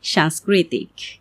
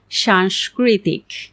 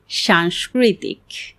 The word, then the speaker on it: সাংস্কৃতিক: আমরা প্রায়ই শুনি অনেকে বলছেন সংস্কৃতি সাংস্কৃতিক। কিন্তু এর সঠিক উচ্চারণ হল সংস্কৃতি সাংস্কৃতিক। সবগুলোই কিন্তু তালব্য সতে রূপান্তরিত হচ্ছে। তাই এই বিষয়টি খেয়াল করে উচ্চারণ করলেই আপনার উচ্চারণ একদম সঠিক হবে। অর্থাৎ সংস্কৃতি সাংস্কৃতিক।